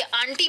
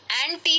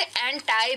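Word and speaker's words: anti: याद रखिए, आंटी नहीं है, हाँ एंटी है। कुछ लोग इसे एंटाई भी प्रोनाउंस करते हैं, दोनों प्रोनाउंसिएशन इसके सही है।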